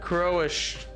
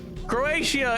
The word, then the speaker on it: Croatia: You're not pronouncing uh Croatia. You're pronouncing uh Croish, but it's not Croisher. Croatia is not Croisher.